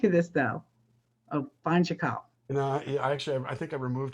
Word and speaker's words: Chakal: Chakal? I was Chakal Chakal in the movie Book of in Life.